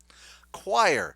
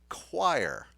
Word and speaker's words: choir: the last thing their it sounds like it starts with a Q choir choir I don't know